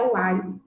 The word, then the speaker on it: Wiley: E aí, agora a gente falando um pouquinho do quanto o Wiley, né, fala Wiley, né, escreve Wiley, mas a pronúncia é Wiley.